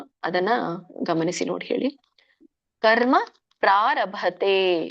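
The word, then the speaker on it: ಪ್ರಾರಭತೇ: ಕರ್ಮ ಪ್ರಾರಭತೆ. ಪ್ರಾರಭತೆ ಭ ಇದಿದೆ. ಮಹಾಪ್ರಾಣ ತೇ ದೀರ್ಘ.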